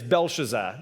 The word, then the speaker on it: Belshazzar: king king Bazar and not to be mistaken for belto shazar which was Daniel's Babylonian name uh it's belshazzar slightly different one less syllable there but it is good